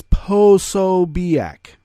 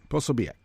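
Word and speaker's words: Posobiec: you know a nose thing but it is posobiac possibiac and uh you you know the uh right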